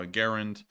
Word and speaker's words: Garand: my name John C garan Springfield Massachusetts and the section of the letter he is enclosed says an initial G hard as in go first a short as in Harry second a